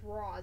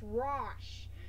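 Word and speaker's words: Ra's: pronounce his name seriously a lot of people say it as Ross it's Ross so yeah I do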